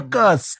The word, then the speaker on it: Fuckuski: You have to say it like you're really Italian. Fuckuski. Fuckuski. Like it ends with an I.